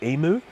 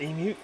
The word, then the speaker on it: emu: we say that i think americans often say emu but it is pronounced emu that's the bird i'm referring to the second